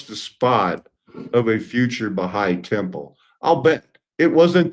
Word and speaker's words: Baha'i: In 1903, a small group of Baha'is, and this is how you spell it, so the apostrophe there is not including the plural.